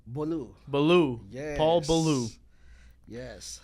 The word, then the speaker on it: Bolu: Bolu.